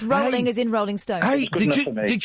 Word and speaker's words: Rowling: should have a half a point because he pronounced it wrong it's rolling as in Rolling ston did you see did